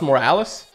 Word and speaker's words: Morales: that looks kind of like it morales miles morales that's how you pronounce it yeah i can we just get